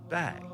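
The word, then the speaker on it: bague: french is spelled b-a-q-u-e it's pronounced bag i had no idea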